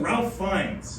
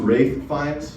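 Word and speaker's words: Ralph Fiennes: are you thinking of Ralph fines uh it's pronounced rith findes like rape but with an F you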